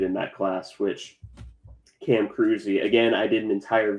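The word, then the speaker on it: Kruse: I mean, who could have predicted that K R U S E would be Cruzy?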